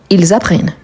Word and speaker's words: apprennent: et il elle plel on a le double n e nt on ne prononce pas à la fin donc on a j'apprends tu apprends il apprend nous apprennons vous apprenez ils apprennent ça c'est super important